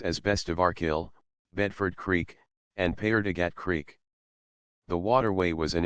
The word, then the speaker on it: Paerdegat Basin: Paerdegat Basin, pronounced Paerdegat, is a channel that connects to Jamaica Bay in western Canarsie, on the eastern end of Brooklyn, New York, United States.